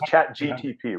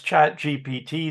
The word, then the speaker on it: ChatGPT: And by the way, this was ChatGTP, right? Yes, ChatGPT. GPT. I'm saying it wrong.